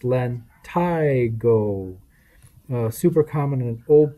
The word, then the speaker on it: lentigo: liver spots solar lentigo lentigo cenialis senile freckle pronounced len tygo uh super common in old people the plural